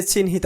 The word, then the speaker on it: চিহ্ন: চিহ্ন বানানে হ এর সাথে দন্ত ন হওয়ায় আমরা উচ্চারণে NH দিয়ে লিখেছি।